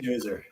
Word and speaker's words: schnauzer: Well, it can be pronounced different ways. Schnauzer.